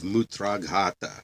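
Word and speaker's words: mūtrāghāta: of here we go mutata mutata suppression of urine or strangury m t u is a yeah it's U it's a long u t r long a g h long a t a m u t r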